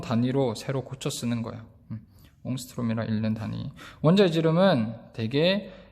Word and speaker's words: 옹스트롬: 옹스트롬이라 읽는 단위. 원자의 지름은 대개 이런 옹스트롬 스케일이다.